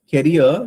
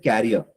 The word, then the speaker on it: career: You said for career, you said carrier.